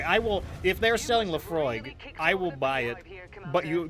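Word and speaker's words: Laphroaig: Lafroig? Lafroig, yeah. With the G at the end, the G at the end? Yeah, with a G there, Okay, yeah. so okay. like, you know, Lafroig, yeah, I might be hitting the Lafroig.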